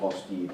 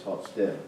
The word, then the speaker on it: Hofstede: Some pronounce it Hofstede. He's Dutch. I don't speak Dutch, so I think it's Hofstede, but Hofstede. H-O-F, sorry, S-T-E-D-E.